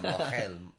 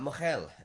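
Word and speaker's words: mohel: Oh, anyway, yeah, look it up, mochel, M-O-H-E-L. Thank you for traditional spelling that, because circumcision. nobody knows how to spell it when you just say it.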